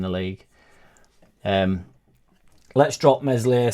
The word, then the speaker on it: Meslier: league um let's drop mesli silent s give Doo a go